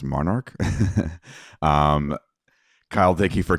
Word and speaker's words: MNRK: of digital marketing for Monarch music group some people know it as as well as I did before this uh mnrk um so if you've seen it around it's actually pronounced Monarch um Kyle thank you